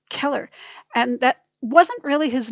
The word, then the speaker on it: Cheller: use k so the c h e l l e r keller like that's not pronounced cheller or sheller it's keller and that wasn't really